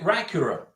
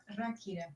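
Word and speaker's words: Ráquira: Yeah, Karina bought it in Rakira, and I called it Rakura. Now, I can't pronounce it. It's Dracula, right? Rakira.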